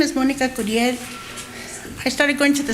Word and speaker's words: Curiel: Okay, Monica Carell? It's me. I said it right? Yeah. I couldn't tell if it was a G or a C. She was a volunteer also. My name is Monica Curiel.